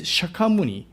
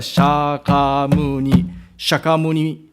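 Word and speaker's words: Shakyamuni: So it's not a one you know beat per you know character at only this shakamuni is a shorten pronunciation. So that's why not a shak shakamun. So just a short word.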